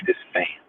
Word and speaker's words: Despagne: My real name is pronounced, Despagne.